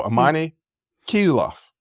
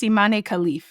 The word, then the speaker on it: Imane Khelif: um thoughts on this so ammane kof I I looked it up that's not the proper way to pronounce it I memorized it and still screwed it up and I'm gonna screw up a lot of these nam I think it's immane khif yes but I'm just